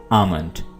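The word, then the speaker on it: almond: आपने एल को साइलेंट रखना है और इसको पढ़ना है आमंड। काजू को इंग्लिश में कैश नट कहते हैं।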